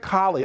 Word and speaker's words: Colley: i say it right i'm colleen yep camp collie okay richard it's that time of year uh